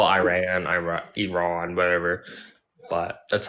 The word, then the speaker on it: Iran: um Iran or Iran I say Iran like here's ear and then a guy named Ron is so it's Iran that's how they like